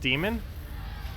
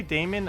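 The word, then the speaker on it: Daemon: throw down on Browns Damon is pronounced demon I always say Damon as in just like Damon instead of demon like I know how to say demon but um I always thought because of the a it's more like Damon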